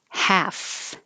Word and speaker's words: half: beginning beer bureau happy half no l calf no l and